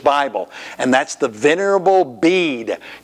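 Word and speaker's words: Bede: and that's the venerable bead you don't pronounce that last e and he lived from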